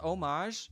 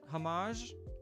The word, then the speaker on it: homage: That's pronounced homage. It's not pron it's not pronounced hamage.